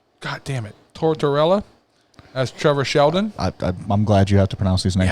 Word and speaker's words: Tortorella: who is that's my brother's like yeah Niko tortilla goddammit Tortorella as Trevor Sheldon I'm glad you have to pronounce these names I know Marlee Shelton plays dr.